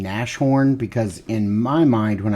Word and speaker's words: Nashorn: But I think it's pronounced, if this is horn, then it should be Nasshorn.